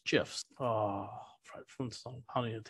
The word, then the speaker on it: GIF: You know, that's the right way to say that. It's GIFs.